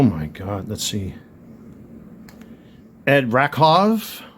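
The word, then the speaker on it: Rakow: Ed Rakov. It's pronounced Rakov. That's a European last name, so you pronounce the W as a V. So Rakov, 1961 rookie.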